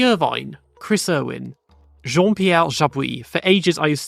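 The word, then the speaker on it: Jabouille: iners Ireland Eddie Irvine Chris Irwin Jean pel jaab for ages I used to say jab but yeah it's meant to be jaab Jimmy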